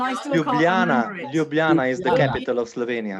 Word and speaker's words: Ljubljana: Ljubljana is the capital of Slovenia. Ljubljana. And Ljubljana. Gregor, would you like to spell it for those people, Yes.